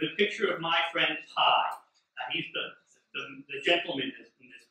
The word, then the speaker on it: Pie: And his name is actually P. It's spelled P-I-E.